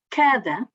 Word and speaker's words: cada: Cada, o A também está em posição tónica, mas não é articulada como vogal aberta. Cada.